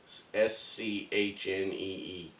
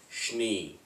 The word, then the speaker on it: Schnee: I was just being honest, but I said, I think it's supposed to sound like you're saying sneeze, but Schnee.